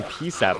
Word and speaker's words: PSAT: What's wrong with the way I'm saying PSAT, by the way? That's how you say it. That's how you say the letter P and SAT.